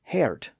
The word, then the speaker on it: heart: That included words like heart, both the deer, H-A-R-T, and the organ in the body, H-E-A-R-T. Both were pronounced as hert before the vowel change.